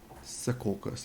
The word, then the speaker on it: Secaucus: that in the map Secaucus yeah well that's how I pronounce it it's spelled that way it might not be pronounced um by New Jersey New jerseyans that way there we go and